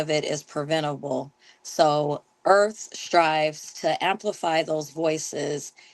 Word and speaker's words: Irth: Regional Coordinator for the Earth app. For those that don't know, the Earth app, and that is spelled IRTH, is a Yelp like platform for Black and Brown birthing people.